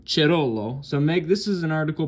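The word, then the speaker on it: Cerullo: Um, it's kind of a crisis, and this here's an article by Megan Chirollo, and I know it's pronounced Chirollo because I looked that name up, and it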